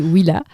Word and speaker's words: Willa: Alors, Willa, faut savoir déjà, est-ce que je le prononce bien? Oui, c'est exactement ça. C'est Willa. Willa, on a changé de nom en 2018.